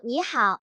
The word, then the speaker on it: 师傅: La palabra "师傅" (shifu) debe estar cerca, y "傅" (fu) debe pronunciarse suavemente, casi inaudiblemente.